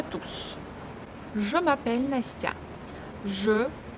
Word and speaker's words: je: Je, here we have caduc sound. It means that this actually can be omitted in some cases, but here we must pronounce it. Je.